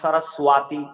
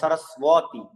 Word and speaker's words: সরস্বতী: যেমন আমরা যদি বলি, অনেকে বলে সরস্বতী, ওয়াতি হবে না, সরস্বতী, ওকে বর মতো উচ্চারণ করতে হবে।